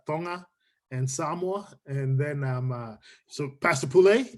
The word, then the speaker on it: Samoa: I used to say Tonga and Samoa, but it's Tonga and Samoa.